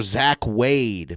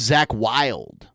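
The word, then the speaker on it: Zakk Wylde: Like he calls Ozzy Osbourne's guitar player Zach Wade, but his name's Zach Wild.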